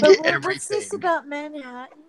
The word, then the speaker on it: Manhattan: We say Manhattan. We say Manhattan. Like when you got to emphasize the hat.